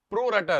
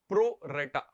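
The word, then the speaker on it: pro rata: अभी दूसरा तरीका क्या है, over subscription प्रो राटा allotment. प्रो रेटा या प्रो राटा, जैसे भी आप प्रोनाउंस करो, आप कॉन्सेप्ट समझो, प्रोनाउंसिएशन ठीक है।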